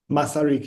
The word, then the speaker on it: Masaryk: He's assistant professor at the University of, how do I pronounce it correctly? Masaryk University.